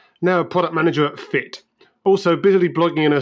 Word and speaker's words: Fiit: so it is fii T but you do pronounce it fit so fit is a fitness startup so we're